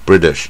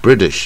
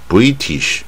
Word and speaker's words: British: 啊，British，它是念 British，不要念 British 啊，它是 British。